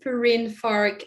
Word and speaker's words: Perrine Farque: with my name so my name is perrine fark uh it's a french name i know it's quite